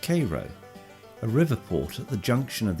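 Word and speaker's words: Cairo: passed through a town spelled like Caro but pronounced Koo Riverport at the junction of the Ohio and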